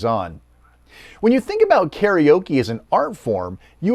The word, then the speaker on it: karaoke: But that doesn't change the fact that the word is a clipped compound of two Japanese words, kara meaning empty and okesutora meaning orchestra.